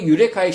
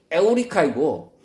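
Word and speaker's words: εὕρηκα: 얻어 강탄하며 유레카라고 외쳤는데 그 유레카의 실제 헬라어 발음은 에오리카이고 에우리스코 찾다 발견하다의 강탄상인 것입니다.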